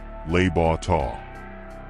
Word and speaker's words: Le Bon Temps: Tony suggested we all go to a little restaurant just slightly out of the area, called Le Bon Temps, pronounced Les Beaux Temps.